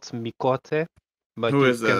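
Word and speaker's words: Miqo'te: The Q is silent, but it's spelled Miote.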